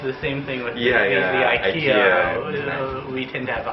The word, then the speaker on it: IKEA: I’ve heard that the original name is Ikea (ikea) but Americans we pronounce it Ikea (aikia).